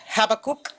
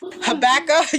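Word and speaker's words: Habakkuk: uh talking about the book of habac or habca you say it right actually and I've been saying it wrong all these I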